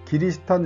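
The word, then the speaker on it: キリシタン: 나갑니다 개종한 영주들은 크리스천의 일본식 발음인 기리스탄 영주로 불렸습니다 이들은 선교사들의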